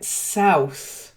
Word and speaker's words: south: word in particular then South has an owl sound not like Soul self try it oh